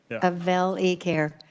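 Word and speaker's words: Avel eCare: is with is it avali care Avail yes ma'am and it's short for what I meant phonetically it's a sure day phonetically it's the short a Avail e-care uh Mark welcome to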